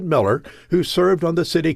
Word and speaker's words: Mueller: This was Austin's Miller Airport, named after Robert Miller he pronounced at Miller, who served on the City Council in the 1920s.